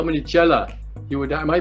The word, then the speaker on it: chela: how many students you would have, how many chela you would have. Am I pronouncing it correctly?